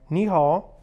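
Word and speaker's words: 你好: Ni hao, at least that's how you say it, ni hao.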